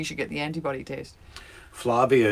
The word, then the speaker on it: Flavia: get the antibody test Flavia is here rhymes with Yugoslavia I guess maybe I had been saying Flavian but that's wrong it's Flavia yeah I knew it